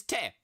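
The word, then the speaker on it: て: t t e h t like technique t for Tech te for technique and the technique for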